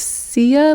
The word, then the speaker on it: Sia: It's Sia like Chia.